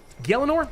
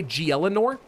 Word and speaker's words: Gielinor: Gielinor? That's how you say it, right? I used to always say Gielinor, which I know is wrong.